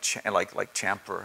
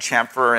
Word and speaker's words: chamfer: When I look at my 11-year-old doing CAD, and you know he's learning words like chamfer. Am I even pronouncing that right? Yeah. Chamfer.